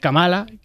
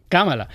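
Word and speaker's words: Kamala: siempre lo pronuncia mal siempre la llama camala cuando es camala como se có se pronuncia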